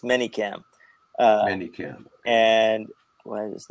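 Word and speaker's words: ManyCam: to something I heard the other night called manic cam yes uh manyam people people don't pronounce it correctly it's manyam Cam and why is this not working I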